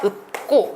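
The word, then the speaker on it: 읊고: 리을 피읍의 대표음은 피읍이에요. 네, 피읍입니다. 리을이 탈락하고 피읍이 남는데요. 이 피읍도 받침에서 발음되지 않잖아요. 받침에서는 아까 기니들이 미비 이만 발음된다고 했었죠. 그래서 피읍의 대표음인 비읍으로 바뀌어서 읍고 이렇게 하셔야 됩니다.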